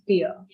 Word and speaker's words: tier: pronunciation of this is not tire. Okay, it's tier. Tier.